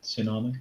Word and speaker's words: tsunami: Yeah, I think you're right with tsunami. I think that's how you pronounce it. You've got silent T at the beginning.